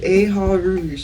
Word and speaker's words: Eha: chronicles here on the ndc with aha did i pronounce that right yes aha means actually four